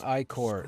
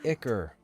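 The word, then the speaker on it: ichor: It's not iicor. It's pronounced icker. Not iicor.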